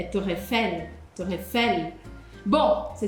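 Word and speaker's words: Tour Eiffel: La torre não é torre, é torrefel.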